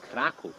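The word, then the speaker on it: Kraków: <dragon breathing fire> So guys Krakow, actually Krakoof in Polish pronunciation, it's called like that because of the first mythical ruler, called Krakus.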